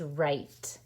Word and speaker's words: write: at it w-r-i-t-e says right like i will write my name now you might be wondering why did i cross this out because we don't hear it right it's a silent w but we have to